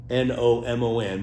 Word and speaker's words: gnomon: I know you've all seen sundials before, but that stick in the middle, it's called a gnomon, and it's with a G. I think it's Gnomon, but it's pronounced gnomon, not stick.